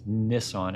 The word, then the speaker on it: Nissan: So Nissan, as Nissan as they pronounced it in the movie, this marketing guy played by Orlando Bloom, wants to get Nissan into racing.